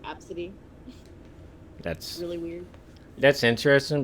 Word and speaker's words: ABCDE: I know there's a popular name going around, and it's spelled ABCDE, and it's pronounced Absidy.